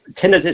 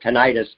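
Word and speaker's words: tinnitus: do you have any suggestions on um uh tinidis which is also pronounced tinitis is the correct way to pronounce it. It's also called tenitis.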